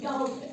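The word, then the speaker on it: doubt: इसीलिए नहीं पढ़ते क हमने को साइलेंट रखना होता है जब भी बी से पहले आए तो बी साइलेंट रहता है साइट रहता है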